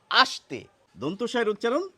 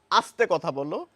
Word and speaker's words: আস্তে: এই স এর উচ্চারণ হচ্ছে দন্তস এর মত অর্থাৎ ইংরেজিতে বললে এস এর মত আস্তে আস্তে আর এই